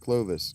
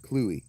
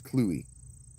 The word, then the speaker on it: Clovis: You'll hear it pronounced Clovis, but Clovis, king of the Franks, is actually pronounced Cluey. His name is Cluey.